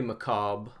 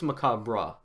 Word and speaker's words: macabre: hand how do you how do you pronounce that word McCobb or macabre I think it's macabre right um if we swing